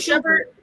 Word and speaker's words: Shumpert: Who is it Schubert?